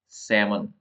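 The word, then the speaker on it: salmon: silent रव next है एस ए एल एम ओ एन सेमन इसमें एल साइलेंट वैसे ही सटल जो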